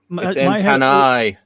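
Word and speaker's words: antennae: red antenna and antenni. Ant, that's how you say it.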